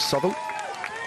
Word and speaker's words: Southwell: But we're just riding through the beautiful town of Southall. It's spelt Southwell, but it's pronounced Southall.